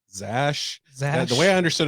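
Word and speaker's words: X Æ: and it's pronounced Zash.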